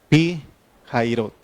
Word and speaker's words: Pi-Hahirot: Y hay un nombre que se pone Pi Jairot. Pi Jairot. Así más o menos se pronuncia. Lo buscamos en Google, en todo. Y dicen que así. No sabemos mucho hebreo, pero se pronuncia Pi Jairot.